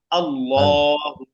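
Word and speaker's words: الله: নিয়ম এই যে আল্লাহ শব্দটা লিখলাম আল্লাহ তাই না এই শুধু আল্লাহ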